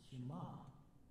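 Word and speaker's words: Shema: of Faith that's that's called the Shima I had to Google that to see how to pronounce it Shima and that says here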